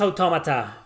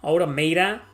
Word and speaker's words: Automata: It's pronounced Automata. Automata.